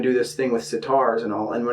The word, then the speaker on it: sitar: It even rhymes with it, sitar, guitar.